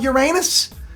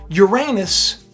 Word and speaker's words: Uranus: And Pilgrim's Progress put a comment up and was like, you're not going to talk about Uranus?